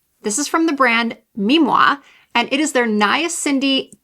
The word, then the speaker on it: Mimmua: supposed to be pronounced Me Moah because it's supposed to sound like Moah, like a kiss or blowing a kiss because the philosophy behind the brand is that it's going to give you kissable skin.